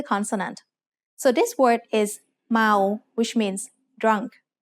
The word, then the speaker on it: เมา: So this word is เมา which means drunk. Sarao is a live syllable ending. So เมา is said with a mid-tone.